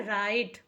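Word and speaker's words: write: को हम पढ़ते हैं राइट डब्लू आर आई टी ई को राइट पढ़ते हैं राइट इसमें भी डब्लू साइलेंट है राइट का हिंदी मतलब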